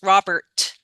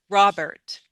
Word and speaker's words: Robert: pronounce these was you can say a true T just but not a lot of T not a lot of what we say aspiration don't use Robert but the T can still be there Robert quietly but a